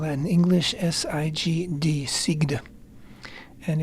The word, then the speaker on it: Sigd: is the holiday of Sig uh I would spell it English s i g d sigd and it's an Ethiopian jewry a Jewish